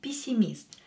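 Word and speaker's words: пессимист: to the English word PC mist pessimist here ye is not stressed so we will pronounce it as E when e is not stressed pronounce it as e pisimist is a pessimist pessimist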